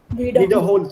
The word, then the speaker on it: wiederholen: Wiederholen, zu wiederholen. Das ist nicht trennbar. Wiederholen. That's why I said stress on the second syllable. Wiederholen. Not wiederholen.